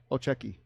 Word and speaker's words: Olchecki: He said, Olchecki. old check. Huh? It's like old jet ski.